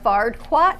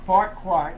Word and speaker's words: Farquaad: Is it Fardquat? Farquaad.